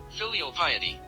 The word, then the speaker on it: filial piety: Travis himself follows a code similar to Bushido, consisting of respect, courage, integrity, duty, and how do you pronounce filial piety? Okay, Filial piety.